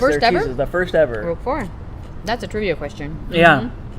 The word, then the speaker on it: Roquefort: It looks like Roquefort, but you say Roquefort. Can you roll your R's?